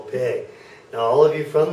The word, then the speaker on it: P: And this last one is pay, like you need to pay me. Pay.